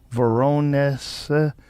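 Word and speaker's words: Voronezh: Veronus.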